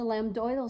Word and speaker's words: lambdoidal: So lambdoidal suture is how you say that. On the sheet it says lambdoid suture, but you can say lambdoidal also.